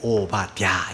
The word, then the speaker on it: 오바댜: 다자가 좀 발음하기가 야자가 들어가기 때문에 오바랴 이렇게 불러야 돼요.